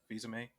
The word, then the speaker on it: Fils-Aimé: Fils-Aimé? Fils-Aimé.